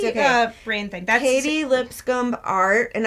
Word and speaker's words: Lipscomb: That's Katy Lipscomb art, and I'm saying the B so that you know to spell it, even though we don't have to say that.